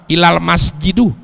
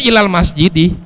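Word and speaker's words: إلى المسجدِ: Ini sok bahasa Arab, ilal masjidu, berarti artinya ke masjid tuh. Seharusnya kan dibaca ilal masjidi, ilal masjidi, dibaca sama ilal masjidu sama dia.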